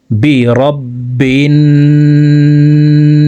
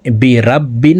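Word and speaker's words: بِرَبِّ: আউজু কুল আউজু বি রব্বিন না এখানে বি রাব্বিন বলা যাবে না অনেকে আমরা এখানে রবা জবর রাব পড়ে থাকি বলতে হবে এভাবে রবা জবর রব রব বি রব্বিন বিন এখানে ওয়াজিব গুন্না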